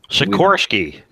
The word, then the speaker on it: Sikorsky: Sikorsky.